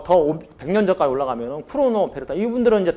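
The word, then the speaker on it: Cournot: 그래서 더 100년 전까지 올라가면은 쿠로노, 베르타 이분들은 이제 다 프랑스 사람들이죠. 그래서 발음을 제가 뒤에 자음을 안 해요. 쿠로노, 그다음에 베르트랑.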